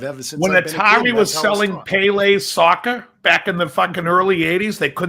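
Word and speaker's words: Pelé: hey actually his name is pelay you tell us now we heard of him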